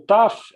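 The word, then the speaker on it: ת: E essa outra letrinha aqui, a última letrinha, é o Taf, é sempre o T. É sempre o T. E esse sinalzinho hebraico sempre quer dizer a mesma coisa. Para você pronunciar a letra pura, ou seja, é T puro, não é tá, té, ti, totu, é simplesmente o T.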